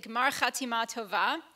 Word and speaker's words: Gmar Chatima Tova: I pronounce it Gmar Chatima Tova.